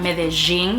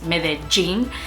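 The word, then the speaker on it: Medellín: Apparently I've heard in Medellin, it's not Medellin, it's Medellin. It's just pronounced a little bit stronger, like llorar, lluvia, as if it was a J and not a double L.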